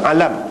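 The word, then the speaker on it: عَلَم: dalam bahasa kita tu kalau Jawi J aami serupa niah juga Tapi bacanya alam bukan ilmu alam ni banyak makna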